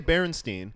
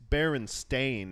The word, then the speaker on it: Berenstain: I was like, it's spelled because it's you say Berenstein, and it's whether Yeah. it's pronounced that or not, it's Berenstain is the how way it's written, like Stain.